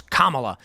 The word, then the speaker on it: Kamala: just call her Harris right people call her Kamala and then they get mad at you a football player they get really offended you don't know how to pronounce her name properly it's it's Kamala but anyway if she actually does implement price